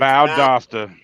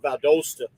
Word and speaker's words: Valdosta: It's Valdosta, not Valdosta.